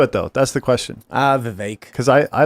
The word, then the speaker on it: Vivek: I think Vivek is how it is pronounced. Vivek. I thought it was Vivek, but it's Vivek. Like Vivek. cake.